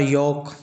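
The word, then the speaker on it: yolk: मतलब होता है सप्ताह उसी प्रकार योक योक को हम लोग और पढ़े हैं ना जिसमें एल लूप होता है साइलेंट होता है इसको आप हमारे आई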